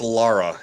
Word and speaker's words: Lara: It's also not Laura. It's Lara.